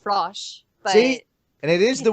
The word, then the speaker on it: Frosch: technically you're right like in german it's pronounced frosh hey and it is